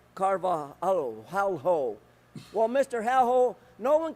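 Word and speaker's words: Carvalho: regarding the asshole superintendent Alberto c-a-r-v-a-l-h-o for the record I believe you pronounced that Alberto carvajo well Mr hell no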